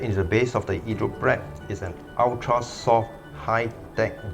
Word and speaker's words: idroprep: World's first hydrofoaming tamper called Hydroprep, pronounced in Italian, from the very same creator of the ESPAZZOLA group head cleaning tool.